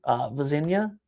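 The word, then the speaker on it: Vozinha: Cape Verde's goalkeeper, Vazinha, is that how you pronounce his last name?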